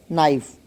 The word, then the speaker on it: knife: For example, knife. In knife, K is silent. When there are K and N in adjacent positions, then K is never spoken.